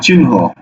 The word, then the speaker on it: চিহ্ন: যেমন দেখো চিহ্ন, তাহলে চিন হকারে হো, চিহ্ন।